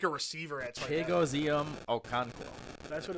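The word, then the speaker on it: Chigoziem Okonkwo: I can't pronounce his name, but Chig. like he's like a receiver at tight end. Chigozium Okonkwo.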